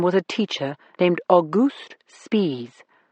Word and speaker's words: Spies: One of them was a teacher named August Spies. That's how he pronounced it. Spies, not spies.